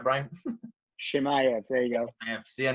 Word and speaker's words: Chimaev: If I pronounced that right, Brian? Chimaev, there you go.